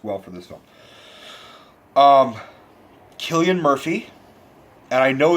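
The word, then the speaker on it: Cillian: and that works well for the zone um Killian Murphy and I know it's not silly atty Rhett I looked it up and his name is pronounced Killian perfect name for killed an actor place the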